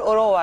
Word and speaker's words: أوراوا: احنا بنتكلم ان فريق اوروا الياباني لو احنا بننطقها صح برضو، لان في ناس بتنطقها كده كتير من استوديوهات التحليليه، في ناس بتنطقها بطريقه غريبه جدا تحسها ان هي يابانيه شويه، فاحنا هنقول اوروا. يعني عامه النسخه الحاليه هي